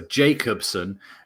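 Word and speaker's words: Jakobsen: Yeah, you don't say J, I think. Jacobsen. It's because we know Jacob from Fan TV. So Jacobsen, although it does say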